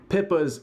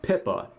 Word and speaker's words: Pippa: And then he starts talking about Pippa, acting like he has no idea who she is, and does another classic Hasan move, getting her name intentionally wrong, calling her Pippin Picka. Because apparently mispronouncing people's names on purpose is a way